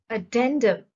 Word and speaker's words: addendum: are adjust conform accustom addendum the stress is on the second syllable addendum is a noun